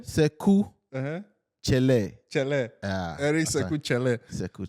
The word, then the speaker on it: Chelle: What we know, I think everybody will pronounce it the way they Eric can. Chelle. But I think the name is Eric Chelle. Sekou Chelle.